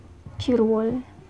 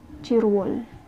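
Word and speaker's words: 칠월: July, chirwol. Chill all. Pero dahil ito na naman siya, aakit na naman ito. Magiging cheer wall. Cheer wall.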